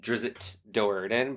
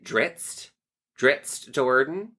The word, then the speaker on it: Drizzt Do'Urden: So there's a character from Forgotten Realms called, I always pronounced it Drizzt Do'Urden, but I think people say Dritzt Do'Urden.